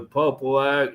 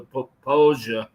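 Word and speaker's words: Popo Agie: It's literally the Popo Aggie, the Poposia, as you would say it correctly, is part of that Wind River system, which is right in here.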